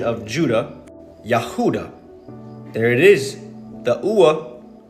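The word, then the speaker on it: יהודה: In the original Hebrew pronunciation of Judah, Yahuda. There it is. The ua, Yahuda. Not Yahavta.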